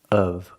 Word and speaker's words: of: can say of course pronunciation of of use the short uh sound like cup and up of and the F sounds like a vvv sound like very together of of course in the word